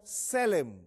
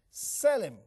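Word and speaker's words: צֶלֶם: la escritura esa palabra viene del hebreo selem así como se pronuncia la voy a escribir en el pizarrón selem así como se pronuncia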